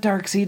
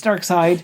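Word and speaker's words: Darkseid: last week I'm like it's not dark seed it's dark side you know it's spelt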